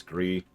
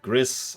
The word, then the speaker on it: Gris: I think it's Gree. It's one of the other platformers. It is Gree. Gris. I've heard it pronounced a few different ways.